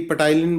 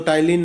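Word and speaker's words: ptyalin: ठीक है जी, पटाइलिन बोलते हैं कई, तो टाइलिन है, पी साइलेंट होता है।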